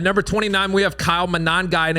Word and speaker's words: Monangai: At number 29, we have Kyle Monangai, and if you don't have fun saying that, you're not saying it right, Monangai.